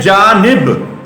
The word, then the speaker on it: جانب: پھر سمتیں، پھر ایک، پھر جانب پڑھتے ہیں جانب، نون کے نیچے زیر ہے۔ اسی طریقے کے ساتھ